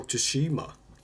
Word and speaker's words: Tsushima: Oh, Tsushima. That's it. Yeah, I think that's what it is. I think that's how you say it, yeah.